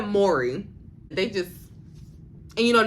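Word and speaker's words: Mowry: good even Devon Franklin Tia Mari or is it Mory I think I've been pronouncing their last name wrong for many many years Tia Mory they just and you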